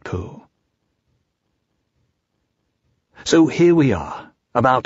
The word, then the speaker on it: Pooh: to in various ways poo by the way is pronounced sort of like poo but without so much ooh like the sound you make when blowing a bug off your arm on a hot summer day before we bring our